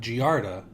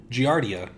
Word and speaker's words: Giardia: So the claim is is that they did contract giarda. Giardia. Sorry, he said it wrong so it threw me off.